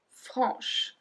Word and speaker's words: franc: Then we have franc, franche. So franc, we don't pronounce the C.